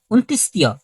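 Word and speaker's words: অন্তঃস্থ: মানে এটা কি হবে বিন্দুর বিন্দরটাকে আমরা বলি অন্তস্থীয় এটা কি অন্তস্থীয় হবে না এটা হবে কি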